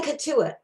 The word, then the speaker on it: Cotuit: I'm not even sure if I'm pronouncing the museum correct. I recommend the Cotuit. It's in Cotuit.